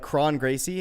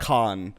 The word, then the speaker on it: Kron Gracie: middle of their name if there's an r in the middle of their name it's still pronounced like an r like chrome english is